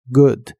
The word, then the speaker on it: good: buena taza de café la doble o de la palabra good se pronuncia como una u corta y explosiva good la u de la